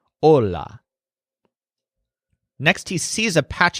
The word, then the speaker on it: hola: say this he says hola so the stress syllable here is all which is kind of like whole which is what his head stuck in but the H is silent so it's just hola next he sees a